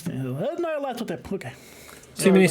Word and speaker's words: Nyarlathotep: It's Nyarlathotep, okay. Too many syllables.